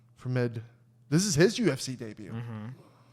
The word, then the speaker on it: Fremd: How do you say that? Fremd. Fremed. Fremd. F-R-E-M-D. Fremed.